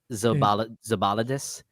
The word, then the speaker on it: Zilbalodis: Gints Zilbalodis. Yeah, it's Gints. I do know Gints. it's Gints. It's Gints. Okay, you know that. Zilbalodis.